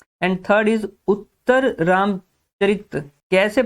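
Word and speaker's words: उत्तररामचरित: And third is उत्तर रामचरित। कैसे pronounce करना है वर्ड को, अगर आपने सीख लिया तो आपका आर्ट एंड कल्चर काफी आसान हो जाएगा।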